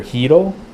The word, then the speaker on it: Hito: I'm willing to bet his Japanese pronunciation of his name is Dr. Hito. Hito. Hito. So it's like hero. Hito.